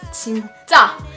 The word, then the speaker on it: 진짜: There's a double consonant at the ja, but the first little set of vowel and consonant with the 진 is no double. So you just say normal, you say 진, but then at the end you go big and you say 자.